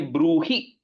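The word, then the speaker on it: ब्रूहि: So here Bruhi is a short E. So you should be careful not to say Tanme Bruhi Pitamaha, then it becomes a long E, right? It's a short E in this case.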